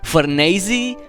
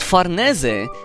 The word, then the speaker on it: Farnese: whether to call her fernasi or farnese i came to the conclusion that farnese is the best way to spell it because it's the actual italian pronunciation and also our name